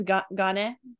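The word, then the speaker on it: 金: So your job is to remember this is pronounced as gane from kane, because theoretically you know this kanji. So I just want to let you know, rendaku on it.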